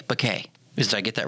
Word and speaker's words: Béquet: how do i pronounce it here's how i pronounce it b-u-h hyphen k bokeh did i get that right perfect that works